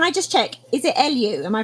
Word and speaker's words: Eliu: So first of all, can I just check, is it Eliu? Am I pronouncing that correctly? Correct. Eliu.